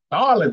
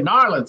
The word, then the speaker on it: New Orleans: Narlands, you gotta say Narlands.